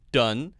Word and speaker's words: done: Done, don, down. Done, D-O-N-E, is pronounced with the short U sound.